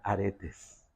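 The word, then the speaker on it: ἀρεταί: De hecho, la palabra virtudes, ahí para que se te quede, en griego se pronuncia aretes.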